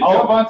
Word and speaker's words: Javante: Is it Javante or Devontae? Javante. Okay.